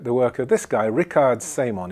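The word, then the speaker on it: Richard Semon: Okay, now let's go and look at the work of this guy Rickard Simon. He's German, so that's how you pronounce it.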